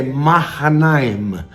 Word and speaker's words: Mahanaim: No hebraico a pronúncia correta é Mahanaim.